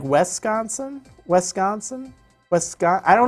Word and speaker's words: Wisconsin: times that you know but I call it Wisconsin and I put extra emphasis on the con and it's it's not